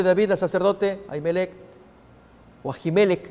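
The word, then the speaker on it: Ajimelec: vida sacerdote jaime lect asimelec es la pronunciación más adecuada el rey me encomendó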